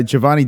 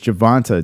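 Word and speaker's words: Gervonta: guys yeah we uh Giovanni day Giovanna Davis uh how do you say his name it's javonta Davis is uh Mayweather's uh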